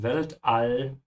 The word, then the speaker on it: Weltall: Das Weltall is space. Be careful with the pronunciation of all. Yeah, keep your mouth open. This is not all, it's all.